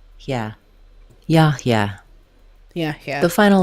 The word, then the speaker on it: Yahya: Yahya. The first letter A in Yahya says the ah vowel like father. Yahya. Letters HY say he, very short and glided to the last a sound. Yeah. Yahya.